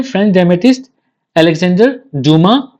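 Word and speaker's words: Dumas: 19थ century में French डेमेटिस्ट Alexander ड्यूमा fees. यह French है इसलिए यहां पर डमास में डमा एस साइलेंट रहेगा।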